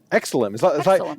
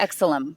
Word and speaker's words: Exilim: And how would you pronounce the name of that camera? Looks like it's the Exilim. Exilim. Is that kind of like excellent? Exilim. Excellent. Yeah. Exilim.